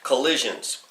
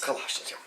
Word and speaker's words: Colossians: and finally we get to the book of collisions kawashima Colossians that's it well I thought it was a